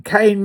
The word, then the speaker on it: Cain: Cain wasn't a punisher. He was a murderer. Cain was given the name Cain, like Cain, C A N E, but it's spelled C A I N.